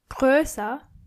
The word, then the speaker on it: größer: adjective, you have to change O into O umlaut. So it's groß, but größer and größte. Try to practice the pronunciation. Groß, größer, größte.